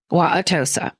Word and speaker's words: Wauwatosa: Wauwatosa.